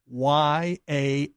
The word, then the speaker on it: Yaffee: I am fine, and everyone who wonders, the last name is spelled Yaffee, not.